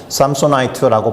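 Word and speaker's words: Samsonite: 아무튼 샘소나이트가 있습니다.이 브랜드의 이름이 삼손에서 왔다라는 것은 익히 잘 아실 겁니다. 그렇죠? 오늘 본문에서 읽어 보았던 그 삼손으로부터 왔습니다. 삼손이라는 단어의 형용산을 만들어 주는 IT 전미사가 붙어서 삼손이트라고 발음을 하고 삼손처럼 강한 것 그리고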